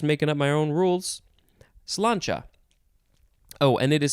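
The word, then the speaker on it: sláinte: goodbye i'm just making up my own rules cilancha oh and it is spelled s s l a i n t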